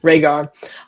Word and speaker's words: Rhaegar: Um I don't know how to say his name, but it's like Ray Rhaegar. I don't know. Perfect. Rhaegar. Okay, cool. Rhaegar.